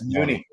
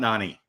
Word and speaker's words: Noonie: No, it's Noonie. It's Noonie. It's not Nani. Everyone calls him Nani. It's Noonie. We've clarified that a few times. It's pronounced Noonie.